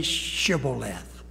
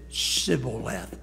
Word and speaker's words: shibboleth: side for what reason they couldn't say shibboleth they said civil left and it identified where